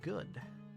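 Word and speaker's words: ゴ: in the position go this is go or go you pronounce this as go like is i can go home i'm already here who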